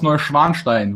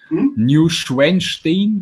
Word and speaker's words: Neuschwanstein: How do English speakers pronounce it? Neuschwanstein? Neuschwanstein. Yeah, there you go.